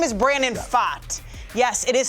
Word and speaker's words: Pfaadt: His name is Brandon Pfaadt. Yes, it is spelled P-F-A-A-D-T. That is Pfaadt. Like I fought with my boyfriend last night, and if I had one, I probably would have.